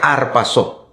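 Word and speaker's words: ἁρπάζω: Arrebatamiento es un verbo, una palabra en griego, pastor, que se pronuncia arpazo.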